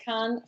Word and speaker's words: Cannes: So, anyway, we're going to have a class in Cannes, France. Oh, I'm actually saying it right.